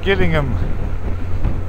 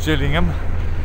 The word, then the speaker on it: Gillingham: I did say Gillingham, not Gillingham. This is Gillingham in Kent. And my favourite trick, people get the HGV drivers wanting to Kent and end up here. Quite funny. They're spelt the same but pronounced different.